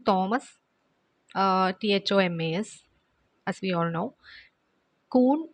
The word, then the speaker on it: Kuhn: Kuhn spelling KUHN. Okay, so here H is silent, so we say Kuhn.